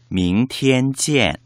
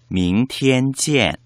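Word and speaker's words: 明天见: 明天见 밍티엔 찌엔. 혹시 명태찜으로 들리시진 않으신가요?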